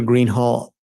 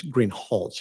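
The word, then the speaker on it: Greenhalgh: you your honor officer Greenhall I believe I'm mispronouncing your name it's green holch isn't it correct okay I apologize will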